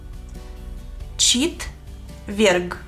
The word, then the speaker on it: четверг: Четверг. Четверг. Четверг. Ч и В son suaves. Четверг. Ч-в. Ч-в. Con una sonrisa.